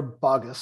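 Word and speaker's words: Boggess: Sierra Bogus, is that how to pronounce it? It's Sierra Bogus.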